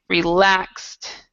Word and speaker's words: relaxed: has a t so this e is silent and it sounds like a t a more relaxed attitude